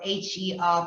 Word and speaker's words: HER: So you have founded several higher education institutions, and you're the co-founder of HER, pronounced as Her, Digital Academy.